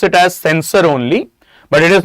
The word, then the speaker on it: censure: Okay, though we pronounce it as sensor only but it is not that C E N S O R sensor. It is sensure. C E N S U R E. Though the pronunciation remains censor itself.